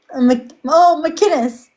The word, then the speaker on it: McInnes: McInnes. McInnes. How come I literally forget it the minute it comes out? Because McInnes. so the pronunciation put like kin, like next to kin.